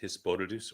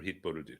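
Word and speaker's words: התבודדות: And to understand where it comes from, the best key is hisbodedus or hitbodedut, depending on where you're from. It can be pronounced either way.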